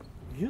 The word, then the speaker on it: 丹生: ニュー川上神社。これでニューって読むわって。ニューって読むのこれ。